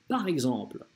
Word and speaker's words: par exemple: Правило такое, если буква X оказывается в первом слоге слов, окружённой гласными, она читается как гз, гз, гз, exemple. Да, окна окружена гласными у нас в первом слоге есть, поэтому читается как «гз», «par exemple».